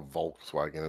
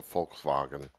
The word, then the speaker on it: Volkswagen: need to at least say it like the Germans do it's not a Volkswagen it's a Volkswagen yeah far fug Nan